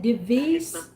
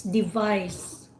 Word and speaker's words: device: I just want to comment, Anish, when you said device about your cell phone, it's Okay. it's device. Device. Device. Device. The emphasis is in the second syllable, vice.